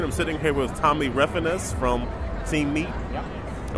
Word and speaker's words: Refenes: I'm sitting here with Tommy Refenes from Team Meat. Yep. And we're talking about... Thank you for pronouncing my name correctly.